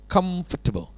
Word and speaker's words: comfortable: บอก คน ไทย ว่า คน ไทย เวลา พูด คำ นี้ นะ ให้ พูด ว่า คำ com Comfortable Comfortable คล้าย ๆ กับ คำ ว่า ตัว เ แทบ ไม่ ออก เสียง เลย เป็น Comfortable Comfortable ถูก